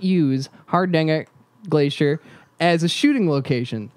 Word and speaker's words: Hardanger: For one particular glacier, Hardanger's Glacier. Do you want to pronounce that for us, Jan? Hardanger.